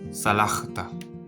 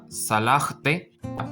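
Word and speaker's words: סלחת: la consonante de taf, y esto se lee como salajt. Que significa tú perdonaste. Es decir, no se lee como salajte, porque vemos que aquí hay dos sheva.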